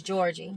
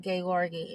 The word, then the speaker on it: Gorgi: a dream that gorgi we would see this as Georgie but they pronounced it Gori and in the um